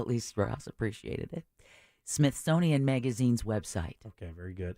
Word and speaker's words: Smithsonian: you're going down you're saying Smithsonian as if it's Jimmy Smith's owns it Smith sonian there you go Smith okay authenticate yeah